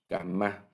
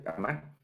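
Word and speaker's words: כמה: Kama, así se pronuncia kama, es para cuánto.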